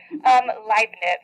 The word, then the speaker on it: Leibniz: Leibniz. Okay, choir people. German. I comes after, right? You pronounce the second vowel.